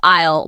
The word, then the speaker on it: aisle: No, actually it's just aisle. 1 syllable, rhymes with smile.